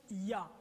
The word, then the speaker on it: Yah: YHWH et la translitération les deux premières parties YH se prononce ya maintenant ce qui se